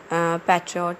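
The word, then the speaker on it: patriota: पैट्रियट जो है, ये हुब्बुल वतनी जो है, जो इंग्लिश का वर्ड पैट्रियट उसके लिए कहा गया है, जिसका जो एक्चुअल प्रोनाउंसिएशन है वो है जी पैट्रियटा, विच मीन्स कंट्रीमैन।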